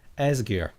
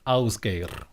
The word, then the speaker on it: Ásgeir: And me and my Australian and American and British and Dutch friends used to call him Ásgeir. That's not the correct way to pronounce his name, it's Ásgeir.